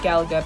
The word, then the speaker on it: Galaga: and it is pronounced Galaga because it's like Galaxy Galaga Pac-Man centipede Sky